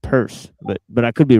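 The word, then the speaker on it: Peirce: Charles, but I'm sure it's pronounced purse, but but I could be wrong. Um Yeah, it's pronounced purse.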